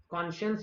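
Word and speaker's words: conscience: कॉन्शियंशन कॉन्शियंस word से ही आता है। ओके, कुछ लोग इसको कंसाइंस बोलते हैं, बट कॉन्शियंस वर्ड है और उसी से आया कॉन्शियंशियस।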